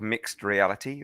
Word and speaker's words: MXT Reality: I run a company called Mixed Reality, that's spelled MXT Reality, because we make extraordinary things.